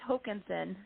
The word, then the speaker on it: Hokanson: or correct me please you weren't far off but it's hokinson so it's a slightly different emphasis on a different level i'm excited we're going